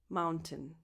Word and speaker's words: mountain: Mountain. Mountain. Tin. You just go directly from the T to the N.